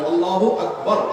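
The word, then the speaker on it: الله أكبر: আল্লাহু আকবার উচ্চারণ করার সময় আকবারের রাকে টেনে পড়া ঠিক হবে কিনা? না, ঠিক হবে কেন? তাকবীরের সাথে বলতে হবে আল্লাহু আকবার, আল্লাহু আকবার, এরকম বলা যাবে না।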